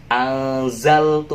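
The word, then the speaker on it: أنزلت: Tapi nanti kalau bacanya tetap wa aminu bima anzaltu pakainya z.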